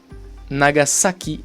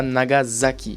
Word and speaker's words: Nagasaki: s comme dans wasabi et pas wasabi houdan nagasaki et pas nagasaki c'est bien s attention à ne pas faire